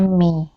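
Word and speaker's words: में: bagaimana dengan Mei l-men bacanya Mei bukan me tapi Mei bedakan antara Mehe dengan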